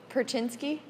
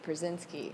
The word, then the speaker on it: Brzezinski: Brzezinski. Brzezinski? Brzezinski. Perchinsky? That's the proper Polish way. But the Americanized way is Brzezinski.